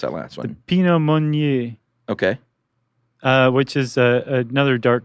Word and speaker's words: Pinot Meunier: There are 3 grapes, and they are the Pinot Noir grape, the Chardonnay grape, and how do you pronounce that last one? The Pinot Meunier.